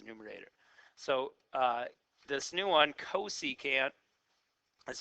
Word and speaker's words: cosecant: So this new one, cosecant, that's how we pronounce this one, is the reciprocal of sine.